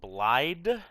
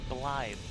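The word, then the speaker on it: Blaidd: I do not know why it is spelled with a D. I thought they were saying Blyde at first, but I have since learned it's Blythe.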